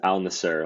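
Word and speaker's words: Al Nassr: again all the year I believe it's aler like it's literally spelled Al space n a SSR Al aler so you're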